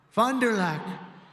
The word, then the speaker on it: Fond du Lac: Fond du Lac.